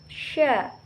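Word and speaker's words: ش: Berikutnya, bagaimana kita melafalkan huruf sya. Huruf sya keluar dengan cara menyentuhkan tengah lidah dengan langit-langit. Nah, diucapkan dengan mengalir udaranya bersama nafas.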